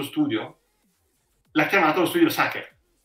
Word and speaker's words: Sacher: chiamato lo studio Sacher in quel caso è giusto pronunciare Sacher perché quello studio è stato fondato da un italiano che ha in qualche modo deformato la pronuncia di una parola originariamente straniera quindi la torta Si chiama E chi dice sa che sbaglia ma lo studio che prendere una da quella nota è giusto chiamarlo Sacher allo stesso modo l'aeroplano